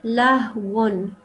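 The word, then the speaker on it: لهو: And then lahwun. This is a tanween on top of the waw. So we have to say wun, okay?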